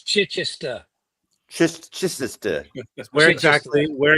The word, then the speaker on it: Chichester: here's Craig to talk about uh stuff we mispronounced or got wrong and there's Elliott so let Craig it's Chichester CH Cher where exactly where exactly is that